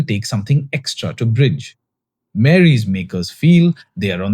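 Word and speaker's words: Marey: Mary, pronounced Mary but spelled with an E, is their generative video tool, which had its public launch in July.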